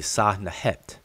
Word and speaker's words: Sinuhe: That's what people pronounce Sinuhe, but it's really Sahnahet when we actually look at it in the glyphs.